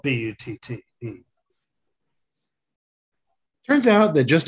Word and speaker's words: Butte: the hard-working people of butte county california am i saying that right he acts butte or is it butt it's butte okay which is the